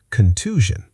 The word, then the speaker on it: contusion: Contusion.